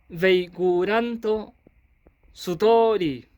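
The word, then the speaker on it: ベイグラントストーリー: Esto se pronuncia veicuranto sutori.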